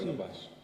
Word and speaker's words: Barnabas: A Barnar, eu não sei exatamente como é que pronuncia. Barnabas.